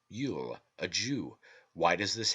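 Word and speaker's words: Luil: churchtum cannot remove it it is yule l-u-i-l pronounced yule a jew why does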